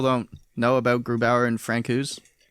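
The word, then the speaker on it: Francouz: up franco's they've it's i've heard it pronounced francoise and franco's i think france franco's is better but i'm gonna always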